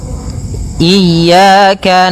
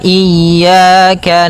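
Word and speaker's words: إياك: Pada lafal ya ini hati-hati dalam pelafalannya ada dua kesalahan yang sering terjadi. Yang pertama yaitu dia memanjangkan iya. Nah, seperti itu harusnya dia ee ditekan dan dilembutkan. Iyaka. Iyaka. Nah, kemudian jangan sampai dibaca panjang.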